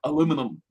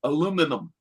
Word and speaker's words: aluminum: made out of aluminium i know y'all call it aluminium we call it aluminum this is the point like we say how it's spelled no you can you look at it can also say aluminum i love it i